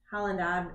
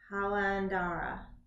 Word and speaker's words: Jalandhara: Then we have the last one, which is it's Halandara. I don't even know how to say this. Jalandhara.